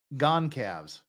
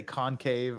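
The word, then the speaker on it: Goncalves: to we need I this is my Hyundai gone calves that's I for some reason I wanted to say concave or uh anyhood gone calves and Logan this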